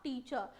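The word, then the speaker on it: teacher: Soft निकलता नहीं है, तो आप ये मान के चले आर साइलेंट रहता है। आई एम अ टीचर, आई am engineer, are last का नहीं आएगा।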